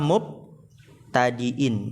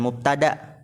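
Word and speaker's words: مبتدئ: Ingat bacanya apa? Mubtadiin. Bukan mubtada. Falianna kulla mubtadiin bil basmalati.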